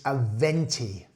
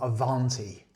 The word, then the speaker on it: Aventi: And just so you can see it here, it's Aventi, not Avanti. Aventi.